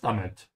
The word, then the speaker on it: damit: Damit, so the emphasis is on the I.